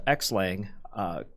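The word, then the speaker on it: xlang: know this I know there's a project called X Lang or I think that means pronounced cross-linked sorry which essentially seems like we say X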